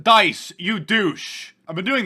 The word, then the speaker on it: Dice: number two people on Twitter saying wait mark dese has been doing this or dice dese has